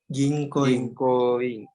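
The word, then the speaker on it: 銀行員: Ginkoin. Oke, perhatikan ya, di situ bunyi panjangnya adalah di ginkoin.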